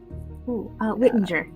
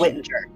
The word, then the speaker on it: Whittinger: Whittinger. It's a soft G. Whittinger.